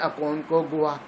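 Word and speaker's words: Aconcagua: اس کو اسپیلنگ آپ آتے ہیں ACON اکونکوگوا GUA. اردو میں کہیں اکونکوگوا.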